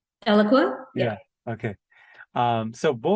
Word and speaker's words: Eloqua: I talked to manjula about this I always mispronounce the company name did I say it right eloqua yeah okay um so what was your experience